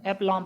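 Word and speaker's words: aplomb: तो जब भी आपसे कोई बोले कि ये वाला ऐप लो, देखो ये बी नहीं पढ़ा जाएगा, बी साइलेंट होता है ना, तो ऐप लॉम पढ़ा जाता है।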